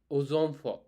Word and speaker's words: aux enfants: In this case, we've seen O enfant, ozonfort, ozonfort. Why I'm saying instead of O enfant, why am I saying ozonfort?